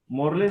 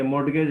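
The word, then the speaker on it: mortgage: मोरलेज नहीं है, ये मॉर्गेज है, गलत स्पेलिंग, गलत लिखा हुआ है, टी है ये, टी।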